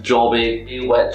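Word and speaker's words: Joby: this is a shoe that is pronounced jobby you know if you're from scotland that word means something a little bit different but this is a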